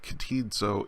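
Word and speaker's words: κτίζω: combination a little bit like the C T in the word act except that the C T sound is at the beginning of the word so it's kateed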